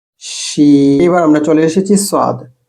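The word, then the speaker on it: ص: এবার আমরা চলে এসেছি সোয়াদ। সোয়াদের উচ্চারণ মোটা দন্তস্ব ভারী ভাবে বলা হয়।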